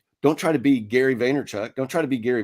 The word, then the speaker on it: Vaynerchuk: Did I say it right this time? Vaynerchuk? I don't know. Probably. Because you made fun of me for saying Vanderchuk. I think you had a D in there once.